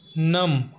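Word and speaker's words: numb: है हमारा next example है नम जिसका हिंदी में अर्थ होता है शुन हो जाना और इसमें भी बी साइलेंट है हमारा अगला एग्जांपल है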